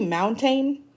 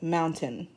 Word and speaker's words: mountain: Now do you say mountain? No. This is actually pronounced mountain.